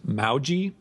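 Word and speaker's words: Mohji: now this is actually uh his name is pronounced mauji and actually i had i had originally i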